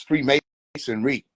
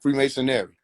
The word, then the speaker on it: Freemasonry: It's Freemasonry, not Freemasonary.